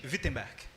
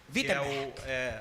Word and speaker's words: Wittenberg: Pronúncia em alemão é com ele. Como é que é? Eu quero falar. Se diz Wittenberg. Wittenberg. Essa é a pronúncia correta. Tô bem? Né? Wittenberg.